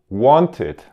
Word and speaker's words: wanted: Want, wanted. Já a primeira palavra é uma exceção. Exceções dessa regra da pronúncia é quando o verbo termina em T ou D.